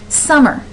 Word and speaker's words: summer: add those in here summer summer do you go summer or do you go summer you can hear that stress at the very beginning of the word so that helps you